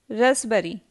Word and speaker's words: raspberry: Raspberry. Silent T. Match. Watch. Often. Christmas. Castle. Question number 1. I am a silent letter, but the words are incomplete without me.